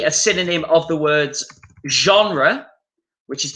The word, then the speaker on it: genre: Type can be a synonym of the words genre, which is the French word, but we use it in English. Genre, that's that French pronunciation.